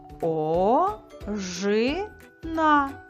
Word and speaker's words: ожина: А тепер давай дізнаємося, який склад у цьому слові є наголошеним. Ожина. Який склад вимовляли ми довше та з більшою силою? Це був склад Ж. Все правильно. Другий склад.